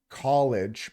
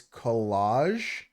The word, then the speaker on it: collage: Oh, it's not college, but it's collage.